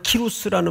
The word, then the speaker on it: 키루스: 여기서 말하는 키루스라는 말은 고레스를 키루스라고도 부릅니다. 고레스의 다른 발음이에요.